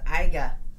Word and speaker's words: Iga: Renee says it's actually pronounced Iga.